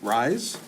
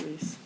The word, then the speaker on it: Reese: We'll get with Mr. Rise, I think is how you say his name, I've been Reese? saying Reese, yeah. It's Reese.